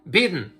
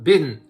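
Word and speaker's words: Bydén: The Sweden Supreme Commander, his name is General Mikael Biden. You can pronounce it as Biden too, but Biden, B-Y-D-E-N.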